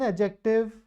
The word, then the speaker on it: adjective: so what is an adjective the D here is silent okay the an adjective